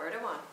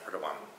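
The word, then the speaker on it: Erdoğan: but I found that I've been Mis pronouncing his name no it is it cuz it's a little Loop over the G it's a w so his name is oh erdan yeah Eran have you heard of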